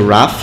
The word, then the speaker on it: Raf: here it's funny how they they shortened my name to rough which is how I've been called for my entire life although I purposely spell